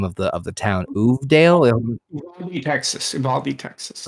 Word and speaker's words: Uvalde: 2 adults in I can't remember how to pronounce the name of the town. Uvalde, Texas. Uvalde, thank you.